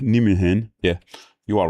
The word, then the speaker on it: Nijmegen: One tip for the name Van Roij or Nijmegen is IJ is pronounced as Y. So Van Roij is pronounced like Van Roy. Nijmegen is pronounced like Nijmegen.